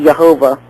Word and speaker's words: Jehovah: you also have yahovah there's no J in the Hebrew language uh so it would be Jehovah with a Y the yahovah there's various there's various